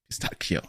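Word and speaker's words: pistacchio: Pistachio. Yeah, that's the one. That CH is pronounced like a K in Italy.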